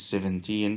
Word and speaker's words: seventeen: so we notice that the stress is on the last part when it is 17 14 13 and so